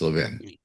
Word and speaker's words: Levin: It's Levin. Oh boy, I'll get straight someday. When I say Levin, I know I'm saying it wrong because it sounds like 11.